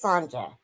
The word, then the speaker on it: Sanja: I learned from, it's pronounced the J as jump. Oh, so it is Sanja.